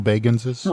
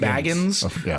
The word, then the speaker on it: Bagans: Of the Underhill Baganses? Right. He actually specifically pronounces his name Bagans because his actual name is Baggins, but he hates when people say that.